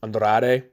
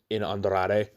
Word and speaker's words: Andrade: Andrade. I always try and roll the R's in Andrade.